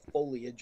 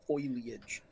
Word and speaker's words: foliage: bothers me is when somebody mispronounces the word foliage as foilage does